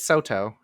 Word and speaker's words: Soto: the comment that like if soda's a no-go also it's soto uh i'm i'm such a seattleite but i think it's important to get pronunciation right obviously um yeah most people don't say it right but soto soto is a no-go